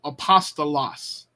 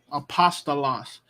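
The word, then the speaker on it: ἀπόστολος: used at the end of a word so Apostle loss Apostle loss notice the syllables because you have uh one vowel star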